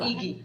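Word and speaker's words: Igy: Iggy. Yeah, it sounds like Iki, yeah. It's I-G-Y. Pronounced Iki.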